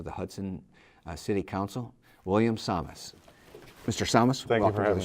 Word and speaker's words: Sames: salmos but samus you said rhymes with fios comments that's right William is just